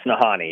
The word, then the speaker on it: Nahanni: even pronouncing this correctly is it nahani valley yes nahani yeah yeah i i mess it up too sometimes that but yeah i always try to think like han solo so honey you got